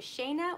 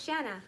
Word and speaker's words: Shanna: 60 to rachel perez okay shanna i was right it's shanna i won shanna banana